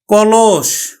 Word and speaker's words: কলস: উচ্চারণ করলাম আমরা রতন কলস কলস আমরা উচ্চারণ করব মধ্যটা দেখো মধ্যটা এখানে তিনটি বর্ণের হচ্ছে শব্দ মধ্যটা উকার হয়ে যাবে ক লস আমরা দন্তস উচ্চারণ করি না তালব্যস উচ্চারণ করি কলস শিক্ষার্থী বন্ধুরা এটা